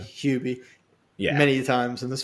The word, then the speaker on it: Hubie: got kind of like a bobby boucher it's pronounced hubie hubie who is he being the name of the